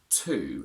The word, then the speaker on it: to: this word t-o is two and it's pronounced exactly the same as t double o and t w o but whilst the last